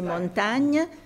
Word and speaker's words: Montaigne: IGN servait à indiquer le son gn. Alors, en réalité, on devrait prononcer montagne. Oui, mais le I, c'est un fait d'écriture, mais ce n'est pas à la française.